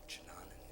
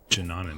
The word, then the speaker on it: Chananan: The linking book back to Chananan is gone. Jananan, that's how you pronounce it.